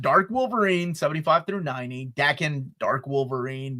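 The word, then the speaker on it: Daken: Father, Dark Wolverine Saga, Duckan Saga, and Material from Wolverine: The Road to Hell. The book has $1328 pages and retails for $150, I believe it's pronounced Dakan.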